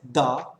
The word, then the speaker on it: the: टी एच ई is pronounced as द when it is used before beginning with a consonant sound. जब टी एच ई को किसी consonant sound से पहले यूज किया जाता है तो उसे द प्रोनाउंस करते हैं, द उच्चारित करते हैं।